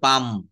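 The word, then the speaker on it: palm: কাম পাম আমরা কিন্তু এখানে কখনো প্লাম বলি না অনেকে কিন্তু ভুল করে বলে ফেলি এটা প্লাম আসলে হবে পাম পাম মানে হচ্ছে তালগাছ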